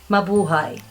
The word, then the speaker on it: Mabuhay: another word mother hi Mabuhay also has four syllables let's break those down ma ba ha e Mabuhay so let's match up